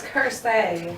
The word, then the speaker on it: Kersey: It's Kersey. Kersey. Okay.